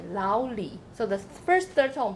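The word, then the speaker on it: 老李: Lao is the 3rd tone and Li is the 3rd tone. But when you combine the 2 together, the first 3rd tone becomes the 2nd tone.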